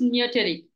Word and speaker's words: Neoteric: Yeah, it is Neoteric. Neoteric Innovators.